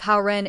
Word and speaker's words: Hao Ren: Reminder, the pronunciation of Hao Ren is very similar to the pronunciation of good person in Mandarin Chinese.